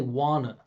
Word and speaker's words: wanna: You hear the schwah? N. It's not na na. 99% of you are going to say na. I'm going to say n. And how am I doing that? Keeping the energy coming from the body and moving forward.